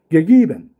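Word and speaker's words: geben: 系でこれあの伝統的な発音我々が教わった発音だとこうやって発音しますゲーベンギギベンね同じ絵なんだけども広い絵と狭い絵っていうのをその全部こうこう分けて発音するこのゲっていう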